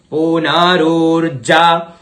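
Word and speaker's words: पुनरूर्जा: फिर है पुनरुर्जा, डबल जा है यहाँ पे तो जोर देते हुए पुनरुर्जा निवर्तस्व, निवर्तस्व सानः सहस्रन।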